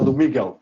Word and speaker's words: Lumigo: told me earlier uh it sounded like Flamingo and that's all I can hear now you're gonna have to tell me what the pronunciation yeah let's go with the lumigo I think lumigo should be good there you go okay